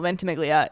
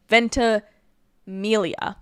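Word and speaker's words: Ventimiglia: I'm so glad that I watched this live on stream because capturing my reaction of seeing my little ventiglia in the ventilia. Sorry, I've been saying his name wrong for so many years that I have to correct it now.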